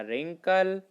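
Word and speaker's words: wrinkle: फिर थर्ड है हमारा रिंकल डब्ल्यू आई एन के LED रिंकल अब हिस वर्ड में हम डब्लू साइलेंट वर्ड है हमने पढ़ते रिंग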